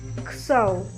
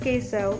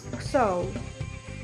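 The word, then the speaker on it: ksew: The K is silent, like kso. Not queso, it's kso.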